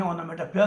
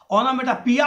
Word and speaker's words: onomatopoeia: ओनोमेटोपी भी पढ़ते हैं, ओनोमेटोपोइया का उच्चारण होता है। ओनोमेटोपिया और ओनोमेटोपोइया नहीं कहते।